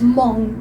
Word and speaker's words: Hmong: people ah okay so you pronounce it as monk not no they pronounce it as mong not one last question so